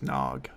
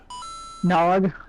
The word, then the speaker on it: Gnog: if it's a gnog i believe it's just nog nog oh that makes a lot of sense the g is silent right um this is